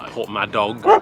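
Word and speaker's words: Porthmadog: So I've just stopped for lunch in a place called Port Maddock. I think I'm saying that right. It's spelled with a dog at the end, so Port Madog.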